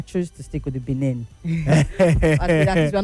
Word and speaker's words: Benin: weekend what happened in Benin Republic. Benin Republic. Uh Gabriel made sure that I I writed my pronunciation. Some of us get got so carried away with Ben Republic. So yes, Benin Republic.